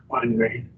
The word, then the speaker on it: Weingreen: Weingreen or Weingreen, I think that's probably a German name. The W gets a B, so pronunciation, Weingreen.